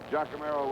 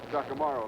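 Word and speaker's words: Giacomarro: That means that Ralph Giacomo will be kicking. Giacomo, let me correct that pronunciation, out of Penn State.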